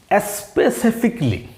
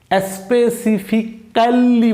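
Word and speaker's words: specifically: এবারে আমাদের শব্দটি হচ্ছে স্পেসিফিকলি। স্পেসিফিকলি দেখেন, SPE এসপি, CIC Spacey, FIC ফিক, স্পেসিফিক। এর উচ্চারণটা আপনি যখন বাদ দিয়ে দেবেন তাহলে LLY লি, স্পেসিফিকলি। স্পেসিফিক্যালি বলা যাবে না, বলতে হবে স্পেসিফিকলি।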